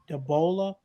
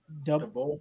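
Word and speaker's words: Daboll: gave the job to Brian Dabola, Dabble. Dabble, The, how you say it? Dabble. I think just dabble.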